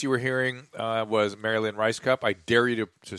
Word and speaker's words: Rajskub: years ago Sarah Silverman introduced her as Marilyn Rice cup and I went got it like the actually I just assumed I'm so right I'm so dumb that that's how it's actually pronounced regardless of the spell yes yes I'm talking